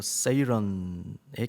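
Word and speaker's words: siren: 그리스 신화에 등장하는 사이렌, 영어 발음으로 세이런의 캐릭터입니다. 그래서 오른쪽에 이렇게 올라와 있는 것은 인어의 꼬리인데요, 그걸 잡고 있죠.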